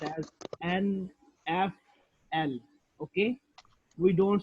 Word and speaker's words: NFL: But for initialism, we pronounce each letter like NFL, National Football League. For example, it's pronounced as NFL.